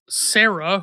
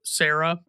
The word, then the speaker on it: Cera: Candace Hudson plays Sarah, who is a Triceratops, and Sarah is spelled Cera, like in Triceratops.